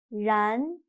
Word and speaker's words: 然: But in Chinese, when pronouncing 然, your mouth is not round at all. It's a little bit stretched. 然.